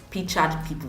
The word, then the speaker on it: Pictured People: support system you mentioned, that Eniola has founded Pictured People. Did I call it right? It's Pictured, yeah? Hey, you actually did pronounce it right.